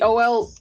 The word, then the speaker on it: Olathe: Y'all, she did not spell it wrong. The O-L-A-T-H-E is how Kansas spells Olathe.